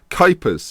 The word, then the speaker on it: Kuipers: Now, Kuipers is how I've been told you say his name.